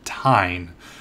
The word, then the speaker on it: Tijn: I did want to show you guys, we've got a really cool builder, and I believe his name is pronounced Tijn, but it's T-I-J-N, and I forget where he's from.